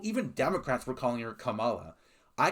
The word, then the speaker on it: Kamala: Unless you're calling her Kamila, commie, then you're just stupid, but at least you're not racist.